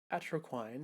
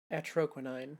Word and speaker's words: Atroquinine: And on my million-seller hit song, Atroquain, My Love. There he goes again. That's too bad, because there was a witness. Also, I feel like I'm pronouncing that wrong. Atroquinine, that's how it is.